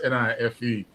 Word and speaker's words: knife: British have a way of spelling knife KNIFE, and the K is silent. It's pronounced NIFE.